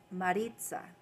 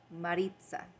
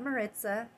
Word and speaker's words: Maritza: So my name is Maritza. Maritza. Not Maritza. Not Marisa. Not Maria.